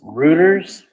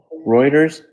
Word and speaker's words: Reuters: This is Ruters, I guess, is how you say this. Reuters.